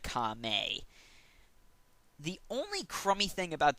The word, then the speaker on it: Kame: Also, there are a few minor mispronunciations, like Kami instead of Kame.